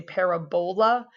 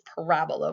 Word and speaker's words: parabola: called a parabola um some students will say Parabola just as a like kind of way to remember that it looks like a bowl but the way we pronounce it is Parabola with the accent on the raw the second